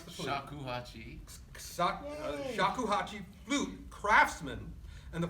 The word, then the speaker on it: shakuhachi: He is a multi-award-winning Japanese, now how do you pronounce the flute? Shakuhachi.